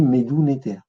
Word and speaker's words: Médou Netjer: y a une divinité, c'est le Néter. Donc on dit Médou Néter.